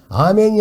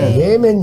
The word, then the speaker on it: 예멘: 오만하지 않은 나라가 있고, 아멘이 아니고, 예멘이 있습니다.